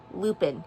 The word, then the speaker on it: Lupin: Lupin. It rhymes with droppin', scoopin', poopin'.